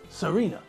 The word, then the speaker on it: Serena: stars just think people there's nothing difficult about the pronunciation of those two names Venus Serena no difficult sounds at all but still the commentators changed the names to Hungarian hybrids Michael J Fox drove